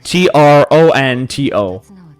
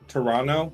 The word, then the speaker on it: Toronto: But they've never said the second T.